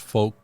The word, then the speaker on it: folk: you offended all the gym pronounced folk with an l in it i i'd always it always drives me crazy when he says folk i think i i